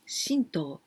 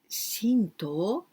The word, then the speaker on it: Shinto: something very holy shinto here we say to but we can also pronounce do like karate or the street not